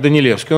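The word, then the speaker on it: Danielewski: случай это Марк данилевский он пишется как данилевский Хотя произносится конечно Как данилевский он сын польского эмигранта режиссёра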